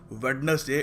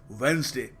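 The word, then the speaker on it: Wednesday: कहते ही वेडनेसडे है so please make श्यर that it इज नॉट वेडनेसडे इट इज वेनसडे तो अगली बार जब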